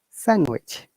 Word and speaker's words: sandwich: Similarly, sandwich, yeah? D is silent.